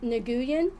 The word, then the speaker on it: Nguyen: But it's not spelled Nguyen like W-I-N. How is it spelled? I think it's spelled like it the should hard be way. Pronounced Nguyen, but it's actually N-G-U-Y-E-N.